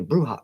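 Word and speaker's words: bruja: You pronounce brew as in bruce and ja happens to be bruha.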